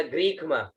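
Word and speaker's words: ग्रीष्म: अंग तो य के साथ में जुड़ गया, यहां बचा ग, ग में र की मात्रा और ई की मात्रा, तो ग्री आधा ख और म, ग्रीक म, ठीक है।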